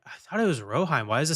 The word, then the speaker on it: Rohirrim: Ro rohim rohim rohim roheim Ro it's r o h i r r i m it's roheim just trust me okay that's what I